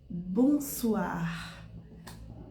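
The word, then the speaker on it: bonsoir: produzir um outro som Então quer dizer que a gente vai vai escrever bons soir mas na hora de pronunciar vai ser bons suar por a junção de o com i tem som de a olha só que legal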